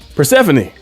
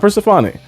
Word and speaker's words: Persephone: We also seen Persephone, I was saying her name wrong. Persephone, not Persephone. Persephone, kind of like the Greek goddess like that.